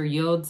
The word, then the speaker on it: yod: Those are the yods or yods of the tarot. Either pronunciation acceptable.